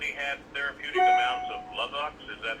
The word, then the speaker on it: Luvox: Therapeutic amounts of Luvox? Is that how you pronounce it? Luvox?